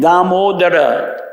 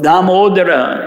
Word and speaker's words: Damodara: Everyone says Damodar, but Damodara is the actual pronunciation.